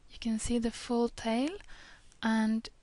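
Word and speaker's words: ت: But at the end, you can see the full tail, and it's and it looks like when it's freestanding. Ta is pronounced as T in English, in tea, for example.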